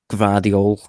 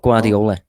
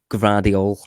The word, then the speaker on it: Gvardiol: So Josko Gvardiol, not Guardiola. Josko Gvardiol, centre back, contracted, or well, he is.